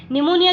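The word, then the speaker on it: pneumonia: चलिए निमोनिया की बात करें तो यहाँ पर पी साइलेंट होता है और निमोनिया लिखा रहता है।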